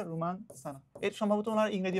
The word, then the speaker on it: রোমান সানা: প্রথম জিতছিল হচ্ছে রোমান সানা আর কি, বাংলায় উচ্চারণ হচ্ছে রোমান সানা।